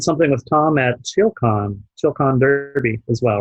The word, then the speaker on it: Derby: You did something with Tom at ChillCon Derby as well, right?